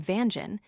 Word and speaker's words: Vanjen: The writer's father has always pronounced the name Vanjen, which also according to Hawen Lie is the correct form.